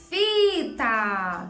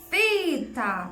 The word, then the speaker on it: fita: Fita! Tá vendo, ó? Fita! Então, fi é a palavra mais forte.